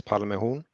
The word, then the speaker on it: Palmehorn: Well, Marcus, my name, and my family name is a bit tricky to pronounce in English, but it's Palmehorn. So Palm and a horn, pretty much.